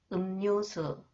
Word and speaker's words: 음료수: 음료수, 심리학, 금리. 심리학을 전공하고 싶어요. 심리학을 전공하고 싶어요. And when 리을 comes after the final consonants 이응, it is pronounced 니은.